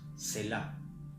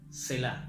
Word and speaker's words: Selah: que pasa inadvertida, y esta palabra se pronuncia así más o menos: Selah. Selah.